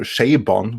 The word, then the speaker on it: Chabon: reshoots have helped that Michael Chabon Sabon which I believe is how it's supposed to be pronounced has done a fairly